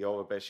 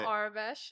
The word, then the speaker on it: Aurebesh: With no Orabesh, is that the right way to say it? Orabesh. So it's Aurebesh.